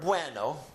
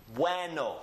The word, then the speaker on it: bueno: So we keep these together in one syllable and they form one sound. You can distinctly hear the U and you can distinctly hear the E, but they are blended together as a diphthong as one sound.